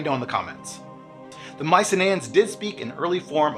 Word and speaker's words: Mycenaeans: and the Minoans yeah so I mispronounced Mycenaeans all throughout this video when I was filming I kept saying Mycenaeans but in post-production I realized the rest of the world apparently says Mycenaeans I don't know if